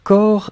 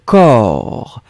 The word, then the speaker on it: corps: Sundar, corps et cœur sont prononcés de la même façon. Pas du tout, Sundar. Le premier que vous avez écrit, corps, C-O-R-P-S, un corps, O-O-R, corps. Le deuxième, un cœur, E-E-E-E, un cœur, d'accord?